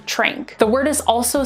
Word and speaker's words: tranq: tile our next word is t-r-a-n-q which is pronounced trink the word is also spelled t-r-a-n-k now the